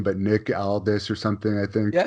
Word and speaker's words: Nick Aldis: And I don't know how to pronounce his last name, but Nick Aldis or something, I think. Yeah, it's Nick Aldis.